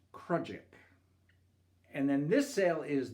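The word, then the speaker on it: crossjack: just gansel or tagallant this sale which is the lowest sale on the mizen mast is pronounced krudjik and then this sale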